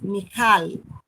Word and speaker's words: Michal: En la pronunciación es Michal.